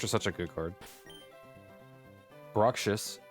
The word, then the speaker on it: Bruxish: Bruxish.